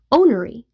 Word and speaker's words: ornery: Ornery means contankerous worldwide. In the southern US, they drop the first R from the pronunciation and sometimes the spelling, making ownory.